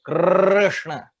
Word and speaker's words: Krishna: That R you should be able to extend infinitely. Krishna.